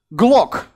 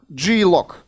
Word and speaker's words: Glock: Glock, G-Lock, actually pronounced Glock as the gun.